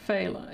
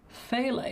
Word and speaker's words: phthalo: Yeah, here they say phthalo. Yeah. Um phthalo. Yeah, it's like phthalo blue, but it maybe it's fail blue and they're just saying it really fast.